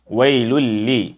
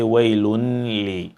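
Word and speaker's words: ويل ل: So it becomes wailul li, wailul li. Do not say wailun li.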